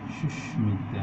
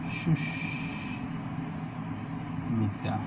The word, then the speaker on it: সুস্মিতা: তারপরে সুস্মিতা, হ্যাঁ সুন্দর হাসি। তাহলে দেখো এখানেও তাই যে মফলার উচ্চারণ হবে, কিন্তু নিয়ম অনুযায়ী হওয়ার কথা ছিল না, ব্যতিক্রমের মধ্যে পড়ছে। তাহলে সুস্মিতা।